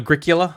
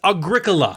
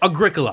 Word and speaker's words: Agricola: a different pronunciation a a battle with the pronunciation yeah like people cannot say agricola no remember eric used to call it agricula yeah agricula people call it agricola agricola yeah it's agricola that's just agricola that's the only way to pronounce it okay